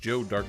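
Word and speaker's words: Joe Darke: Was it pronounced Joe Dark? Is this correct?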